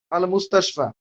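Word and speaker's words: المستشفى: মূলত শব্দটা হচ্ছে কি আলিফ, এটাকে আলিফ উচ্চারণ করা হচ্ছে। আমরা আলিফ বলতেছি মুস্তাশফা, এটা উচ্চারণে আসতেছে না, শুধুমাত্র টান, একটা 1 আলিফ বা 2 আলিফ টানতে হচ্ছে, আল মুস্তাশফা।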